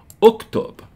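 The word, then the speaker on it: اكتب: Notice it has no hamza. The alif is not pronounced like an alif. The alif is just the chair for the dhamma here.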